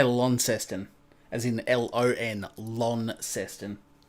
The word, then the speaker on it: Launceston: sydney melbourne or perth i am from launceston which is the second largest city of the state i live in spelled the same as however you say it in england lonston um how far away